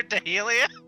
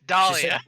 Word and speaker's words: Dahlia: Oh, Yeah, I believe she said it right the first time. oh yeah, it's Dahlia. She said Dahlia and then Dalia and then Dahlia.